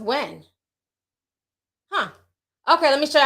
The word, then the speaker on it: Huynh: refreshing my page oh somebody says this pronounce when with a h okay well thank you um aisha i know how to pronounce that okay yes it's pronounced when huh okay let me